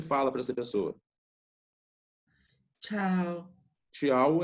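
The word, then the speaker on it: ciao: Tchau é um cumprimento português?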